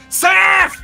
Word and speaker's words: Seth: into conscious with a, Seth, it's time to go! Yep, it's my mom screaming at the top of her lungs, Sip, it's not even Sip, she can't pronounce the H, it's Sip, she's like, Sip, Sip!